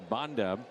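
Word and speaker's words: Banda: Edmund hitless today Anthony Bond on the mound it's spelled b a n d a but pronounced Bond claim off of waivers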